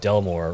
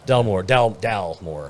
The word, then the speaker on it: Dalmore: because we got that Delmore. Is it Delmore? Am I saying it right? It's the Delmore. Dalmore, not Delmore.